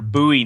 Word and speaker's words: Bowie: They might pull their Bowie knives out.